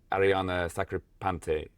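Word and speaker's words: Arianna Sacripante: Yeah, I guess you're mentioning your routines and performances you've done in particular with Ariana Sacripante. I probably didn't pronounce that right, but that's correct, right?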